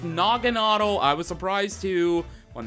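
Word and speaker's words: Naganadel: how badass nogan is and yes it is pronounced nogan I was surprised too when they first said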